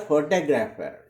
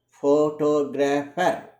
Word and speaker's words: photographer: In the word photographer, photographer, the stress is on the syllable 2.